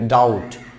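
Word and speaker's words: doubt: এবার রয়েছে ডাউট, এটাকে আমরা বলে থাকি অনেকে ডাউট, এখানে ডাউট রয়েছে নট ডাউট, it will be ডাউট, ডাউট, ডাউট, ডাউট, এখানে বিয়ের উচ্চারণ হচ্ছে না, ডাউট।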